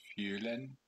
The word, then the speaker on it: Fulenn: Is it Fulenn? No. It's Fulenn. Fulenn. I don't know how to pronounce Breton.